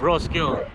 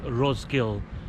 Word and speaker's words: Roskilde: For example, like Roskilde, it's actually spelled as Roskilde. So after the K-I-L there's a D-E, but you don't pronounce the D-E.